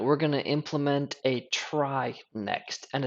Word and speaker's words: trie: we're gonna Implement a try next and it is pronounced try not tree for the sole reason